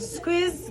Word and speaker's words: SQUIIZ: follow Squeeze on IG. It's spelled just like that.